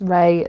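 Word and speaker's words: Raye: Um, but it's Ray as in spelled like the singer. R A Y E.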